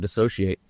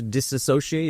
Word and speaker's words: Dissociate: Nobody can say the name right. I fucked it up. We don't really even know how to say it. Dissociate. But there's two words. There's also the word disassociate, and that's what most people say because they expect that word because it's a more common word maybe.